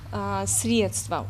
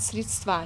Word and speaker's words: средство: тех или иных слов например слова средство очень часто взрослые говорят средства не только дети мы